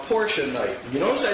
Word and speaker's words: Porsche: The pronunciation of Porsche is Porsche. A two syllable word with the emphasis on the first syllable. Porsche.